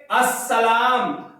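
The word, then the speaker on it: السلام: कोई भी हर्फ अगर अलिफ लाम के बाद आ जाता है तो वहां पर लाम को तलफ्फुज में शामिल नहीं किया जाएगा यानी कि वहां पर लाम को नहीं पढ़ा जाएगा लाम साइलेंट हो जाएगा ठीक है अब इस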